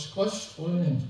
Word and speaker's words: Skrødstrup: SKRO-6-strøen, altså Skrøstrøen, vil jeg udtale det.